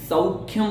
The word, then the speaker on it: सौख्यं: देखिए यहाँ पर जो कठिन पद है, सौख्यम बोलना है आपको, सौख्यम नहीं बोलना है, सौख्यम। इस प्रकार से दो मात्राएं हैं जिसका हमें बहुत अच्छी तरह से ध्यान रखना है।